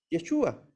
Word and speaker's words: Yeshua: El nombre del Mesías, Yeshua, con acento en la U, que significa Él salvará.